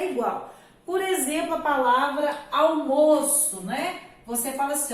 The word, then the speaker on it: almoço: Então, olha só, eu almoço, né? Eu almoço na cantina da dona Maria. Olha já a outra expressão. O almoço está na mesa. Almoço e almoço. A pronúncia aqui foi diferente.